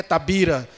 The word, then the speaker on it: Tavira: que existia Tabira Oi e a pronúncia Tavira por ser próximo com a Espanha na divisa é Tabira aí ele pediu ao